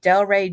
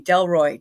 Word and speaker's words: Delroy: Next, I have Delray Johnson. Um, excuse me, Delroy Johnson. My bad. I'm sorry for saying your name wrong, baby.